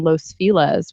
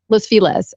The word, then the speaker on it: Los Feliz: Los Feliz, which is actually Los Feliz. But for some reason in LA, nobody pronounces anything with the Spanish accent. It's LOS, like Los, and then Feliz, like happy, Feliz. But everybody calls it Los or Los Feliz, which is super weird.